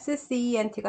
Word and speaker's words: scent: 여기에서 scent가 scent로 해서 s가 묵음이고 향기라는 뜻입니다.